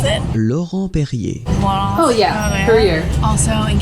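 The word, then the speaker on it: Laurent-Perrier: Laurent Perrier. Very good. Larry Perry. Kara makes fun of me for the way that I say the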